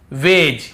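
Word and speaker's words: wedge: फिर देखिए हेज और वेज, यहां पर भी डी को हम नहीं पढ़ रहे हैं, ब्रिज, एज, हेज और वेज।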